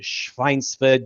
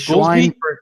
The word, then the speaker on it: Schweinfurt: One of these days you're going to get the pronunciation of it right, but that's fine. It's Schweinfurt, Germany.